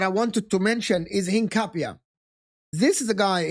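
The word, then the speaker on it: Hincapié: One of the other signings that I wanted to mention is Hinapia. This is a guy Henape that actually pronounce him right.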